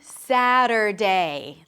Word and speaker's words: Saturday: You start with an S sound, then the A as in cat. Sa, sa, sa. As in, I sat down. Sa. Then the T is a flap T, so it sounds like a D or like a very short R sound in some languages. Sada. Then you drop the tongue to a schwa. Sada, sada, sada.